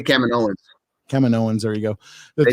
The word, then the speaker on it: Kaminoans: How do you say they say Kaminoans.